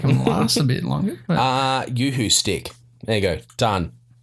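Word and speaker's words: UHU: It's a Yoo-hoo stick. It's spelled U-H-U. Yoo-hoo.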